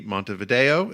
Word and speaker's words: Montevideo: them live in the capital and largest city, Montevideo. Is that how you pronounce it, David?